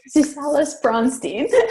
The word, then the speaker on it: Susalis-Braunstein: Susalis-Braunstein.